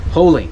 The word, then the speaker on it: Hoellein: you pronounce it exactly holine like Jolene but with holing okay the holing family